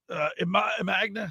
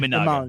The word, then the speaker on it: Imanaga: National League: Max Fried, Hunter Green, Imagna. How do you say his name? Imanaga.